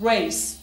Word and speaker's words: race: और एक बात याद रखिएगा कि English में R वो हमारा उर्दू वाला रे नहीं है कि र की तरह आप इसे pronounce करें. देखिए मैं race नहीं कह रहा, मैं बोल रहा हूँ race, race, range, rest, suggestion.